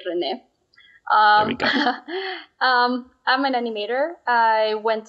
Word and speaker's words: Renee: The correct pronunciation would be Renee.